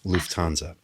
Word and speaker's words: Lufthansa: And at that moment, this is a Lufthansa flight. Am I pronouncing that correctly, Very Sharon? nice. Yes. Lufthansa.